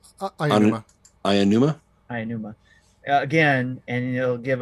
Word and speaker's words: Aonuma: How do you pronounce his name? Aonuma.